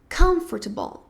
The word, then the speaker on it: comfortable: fazendo o mesmo inglês, quando na verdade a sílaba mais forte vai ser a primeira em inglês. Então, muita gente fala comfortable, comfortable, mas na verdade é comfortable. Comfortable, ok? Ou seja, a primeira sílaba é a mais forte. E o meio da palavra é meio reduzido.